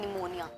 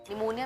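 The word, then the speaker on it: pneumonia: अब जो लास्ट है हमारा इस वीडियो में वो है निमोनिया। निमोनिया में क्या होता है, P एक साइलेंट होता है सबसे स्टार्टिंग में, और निमोनिया में है NEW नहीं, PNEU, न्यू MONIA, निमोनिया लगता है।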